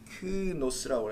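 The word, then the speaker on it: λύχνος: 이 등잔대가 루크노스라고 해요. 루크노스. 그 단어는 좀 알아들 필요한데 등잔대. 자, 영어지 이거는. 자, 르크노스 이렇게 발음합니다. 뭐 르크노스라고 하셔도 되고요.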